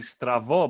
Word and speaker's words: Strabo: name and if you if you pronounce the b in the correct greek it would be stravo but means crooked so